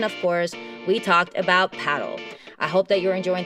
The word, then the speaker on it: Padel: that it is called paddle but the padel pronunciation is just because the sport is so big in Spanish speaking countries and this is the way it is pronounced by Spanish speakers duh it was so